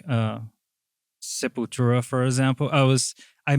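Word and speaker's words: Sepultura: Yeah, Sepura is actually how we call that. Uh, people say like Seputura.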